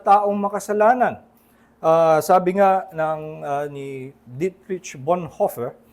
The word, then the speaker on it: Dietrich Bonhoeffer: Sabi nga ni Dietrich Bonhoeffer, mahirap i-pronounce yun kung sa German actually ay Dietrich Bonhoeffer.